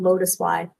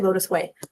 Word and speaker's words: Lotuswei: It's a company called Lotus Y. It's actually Lotus Way, but it's spelled Lotuswei.